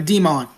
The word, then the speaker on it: Demont: So Demont. So that's how it's pronounced.